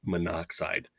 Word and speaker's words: monoxide: And again, the prefix mono and the element oxygen have those two O's that line up. So we allied them, remember from the notes, into kind of one syllable where it's monoxide.